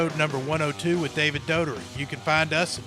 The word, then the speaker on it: Daugherty: David, I'm sorry I butchered your name. Daugherty.